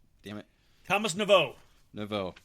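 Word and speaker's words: Thomas Nepveu: Thomas Navo. Navo. Forgot the P is silent.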